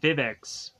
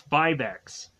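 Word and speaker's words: Vivix: Rangers going on and seeing vivex because I guess that's how you pronounce that I went on to state that it's BuyBacks because I think it sounds better but I guess it's vivex that's the way the show pronounces it so that's how I'm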